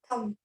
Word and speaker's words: thumb: Somebody unmute yourself and you can just say, what is this and how will you pronounce? Can someone raise your hand? Who wants to? Who wants to try? Yes, Sambhav. Thumb.